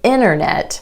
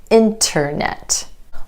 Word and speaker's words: internet: It's easier to say internet than internet. Over time, this easier pronunciation has just won out, and that's why you'll hear a lot of native speakers just drop that T completely.